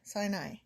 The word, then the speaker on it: Sinai: Sinai. See, I said it right that time.